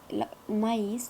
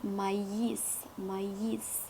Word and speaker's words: maïs: par exemple maïs لدينا maïs تكتب M-A-I avec tréma et S. normalement عندما سنقرأ بالقراءة العادية هي ميس، ولكن عندما وضعنا تخيمة على إي أصبح تي، لذلك نقول مايس.